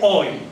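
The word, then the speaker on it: הוי: Que en hebreo, acá dice ay, en hebreo no se dice ay, sino se dice ay, donde dice ay, dice hoy, ¿no es cierto?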